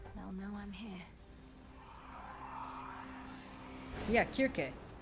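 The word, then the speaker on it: Circe: Yeah, Kirke. There's no soft C in ancient Greek. If it's a C, it was pronounced with a K.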